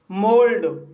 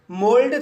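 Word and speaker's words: mould: मोल्ड, मोल्ड शब्द में ओ यू के बाद एल आया है, इसलिए यहाँ पर ओ यू का उच्चारण ओ होगा, इसलिए इसे मोल्ड पढ़ते हैं।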